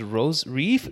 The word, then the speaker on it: Rose Reif: guest coming from north carolina her name is rose reef is that correct and pronounce it yes that's it rosary rose viva